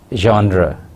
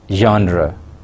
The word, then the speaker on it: genre: personal narrative genre first the word genre is a french word and it should be pronounced as genre genre genre means types or